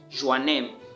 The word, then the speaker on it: Joanneum: this university at fh joannen all right am i pronouncing the name well yes it is fh joe name all right so the